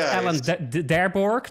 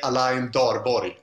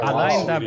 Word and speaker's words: Alain Darborg: I know it's not Alan Darborg then, but... No, people in Sweden can't say my name, but I say Alain Darborg. It's like Alain Davorje.